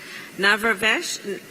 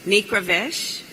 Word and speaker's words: Nikravesh: we have Mr babek navrabash Excuse me please forgive me I'm gonna I'm gonna do that again and it's important to pronounce correctly it's nikravesh and he is a